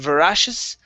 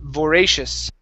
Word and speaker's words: voracious: you is voracious okay give me a long a here instead of voracious beret voracious voracious all right excellent excellent